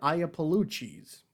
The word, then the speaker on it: Iapolucci: But check out Adrienne Iapolucci's stand-up special. It's free on YouTube. It's called Baby Skeletons. Her name again is Adrienne. That is spelled the Italian way. Adrienne. Iapolucci. That is Iapalucci.